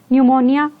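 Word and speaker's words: pneumonia: एन से न्यूमोनिया, यहाँ पे पी साइलेंट होता है, न्यूमोनिया।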